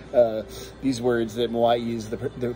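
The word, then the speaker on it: Moʻi: know how to pronounce uh these words that moai is the correct pronunciation this is a cava that is grown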